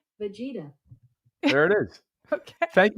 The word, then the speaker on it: Vegeta: Here's pronunciation for Vegeta. Vegeta. Oh, you were... I'm saying. I'm 2 for 2, shockingly. I threw you off twice when you were correct. Vegeta.